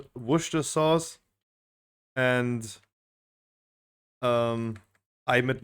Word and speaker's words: Worcester: because I highly doubt only salty hmm it's pronounced Worcester okay everyone has a different pronunciation that you